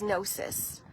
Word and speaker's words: gnosis: And the word is nosis. And it's spelled g n o s i s.